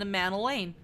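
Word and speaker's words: Emmanellain: Emmanuel Lane Amanda Lane it's a mantle and lame a man Elaine like Emmanuel but a man Elaine I love him he's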